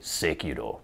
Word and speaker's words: Sekiro: And I'm pronouncing it Sekiro because I'm a doofus and that's how it should be pronounced.